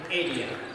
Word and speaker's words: Adia: Correct pronunciation, Adia.